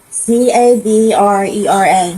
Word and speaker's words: Cabrera: C A B R E R A. C A B R E R A. E R A.